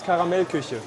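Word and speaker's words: Karamell-Küche: hard but um it's called the um vas caramel cush have you got that yes I was right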